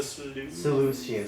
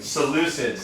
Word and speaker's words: Seleucids: the first one is the Seleucians. Seleucids, thank you. Seleucids. Yes? And that specific kingdom is gonna be very, very impactful in chapter 8, so keep in mind of the Seleucids.